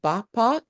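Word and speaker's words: Bapak: I like oh salam pagi bap and bap like b a p a k bap is like uh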